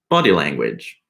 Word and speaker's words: body language: for example we say body language so the stress is on body the first part yeah we